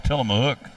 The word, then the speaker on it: Tillamook: I didn't even pronounce. I said Tillamook a while ago, so it's Tillamook. So didn't even say it right.